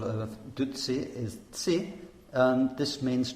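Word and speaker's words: བདུད་རྩི: And the word for nectar in Tibetan is dutsi. And dutsi has two syllables, and the first of them is du, which is the Tibetan word for mara.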